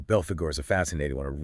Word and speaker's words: Belphegor: with the basics right yeah his name it's pronounced Bel Fagor and he originates from ancient Assyria but it's